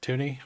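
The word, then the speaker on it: Thuney: City's offense we lost Joe thuny as well like tuny I think it's actually pronounced and he's one of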